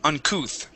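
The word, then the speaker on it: uncouth: Uncooth. Yeah. sort of like saying booth or tooth. Okay, it has that ooh sound there.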